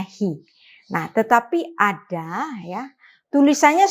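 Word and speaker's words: היא: Di sini alef kita baca secara silent, ya, sehingga kita membacanya he.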